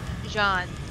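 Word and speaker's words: Jeanne: Like, if they didn't so perfectly set up Jean and Bayonetta, like, or Jean and Bayonetta, how do they pronounce her name? Jean.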